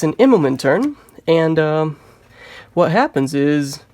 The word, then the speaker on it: Immelmann: yeah yeah ammo man Immelman sounds strange on my tongue I mean I pronounced it as Idleman for the last seven years but it's a momen Immelman turn so okay kudos to me